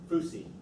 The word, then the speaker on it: Foosye: And how do you pronounce it? Foosye.